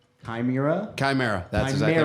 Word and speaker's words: Chimera: So you guys have a brand new album out, and I'm gonna try to pronounce the name correctly. Chimera. Chimera.